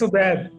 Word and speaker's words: Obaid: Obaid or Obaid? It's Obaid. Obaid.